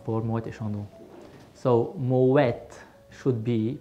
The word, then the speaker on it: Moët: I'm a crafting for more de chandu so Moet should be pronounced with the tea because because originally the